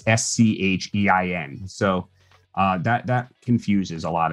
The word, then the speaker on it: Schein: Oh, I should also say, because no one gets this right, Schein is not spelled like shine. It's S-C-H-E-I-N.